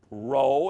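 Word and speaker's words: rho: in science P row this is an R row is how it's pronounced the r r r sound Sigma now there's two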